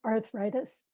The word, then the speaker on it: arthritis: So up here, this blue line, arthritis is a Lingit pronunciation of the English word. And the main difference is that you take out that first R and just make it a long ah.